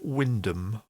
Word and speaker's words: Wymondham: And the Norfolk village of Wyndham is not spelt Wyndham. It's pronounced, or it's spelt out Wymondham.